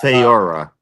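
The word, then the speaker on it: Faora: I can't even pronounce her name. Oh my It's God. Feora.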